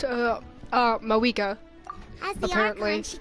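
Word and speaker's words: Mavuika: Also, just learned, it's not pronounced Mavwika, it's pronounced, Mawika.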